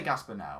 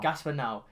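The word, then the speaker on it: Gaspar Noé: now which is it i don't know how to say that i say gasps but now i've heard a lot of people say it like that i'd say gaspar now gaspar now he is so it's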